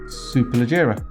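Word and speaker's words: Superleggera: right the next here is the next one super legera yeah have I pronounced it correctly yeah a great job there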